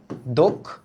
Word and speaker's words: দক্ষ: আচ্ছা মনে রাখো এই যে ক্ষীয় হ্যা খিয় এটার আগে যদি অ ধ্বনি থাকে এটার আগে কি একটা অ ধ্বনি যদি থাকে এই যে অ তবে এই অধ্বনির উচ্চারণ হয়ে যায় ও এর মত কিসের মতো ও এর মতো তাই এটার উচ্চারণটা কি হবে দক্ষ এটার উচ্চারণ হবে দক্ষ ওকে দক্ষ সিমিলারলি তোমরা